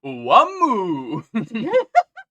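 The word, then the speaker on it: Wamuu: So his name is Wham. Oh my god. Wake me up before you go. Yeah, put this back on. It's not over yet, Oh. but it's Japanese, so it's pronounced Wamu.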